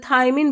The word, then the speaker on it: thiamine: तो ये तो हमारा थायमिन, इसकी स्पेलिंग अलग है, दोनों को प्रोनाउंसिएट तो सेम करते हैं, थायमिन बोलते हैं, बट जो हमारा विटामिन है वो है थायामिन, ऐसे है।